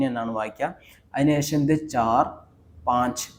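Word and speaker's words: पाँच: വായിക്കുക അതിനുശേഷം ഇത് ചാർ പാഞ്ച് പാഞ്ച് എങ്ങനെയാണ് ഇത് വായിക്കുന്നത് എന്ന് വെച്ചാൽ ഇത് പ അതിനുശേഷം ഒരു വടിയുണ്ട് അതിനുശേഷം ഇവിടെ ഒരു കുത്തുണ്ട് ഈ കുത്താണ് ഒരു എൻ ന്റെ ഒരു ഉച്ചാരണം വരുന്നുണ്ട് ഇതില് പാ എന്നൊരു ഉച്ചാരണം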